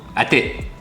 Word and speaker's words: อาทิตย์: Atit.